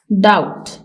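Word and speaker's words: doubt: डाउट शक करना, इसमें बी साइलेंट है, ये साइलेंट लेटर है।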